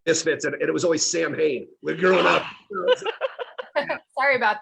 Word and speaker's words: Samhain: like around Halloween or Samhain, like it wasn't maybe as accurate what we were what was that? Samhain. I knew I'd mispronounced that.